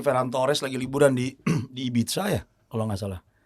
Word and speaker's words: Ibiza: Ini Ferran Torres lagi liburan di Ibiza ya, kalau nggak salah. Ibiza ya bacanya, bukan Ibiza ya. Ibiza tuh dialek Bekasi. Kalau Ibiza dialek Spanyol sebelah kanan gitulah.